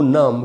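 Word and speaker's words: numb: देखिए, गो नम का मीनिंग होता है सुन्न पड़ जाना। नम जो वर्ड है दोस्तों, इसमें एंड में जो बी है वो साइलेंट है तो उस बी को नहीं पढ़ेंगे। आई एम गोइंग नम यानी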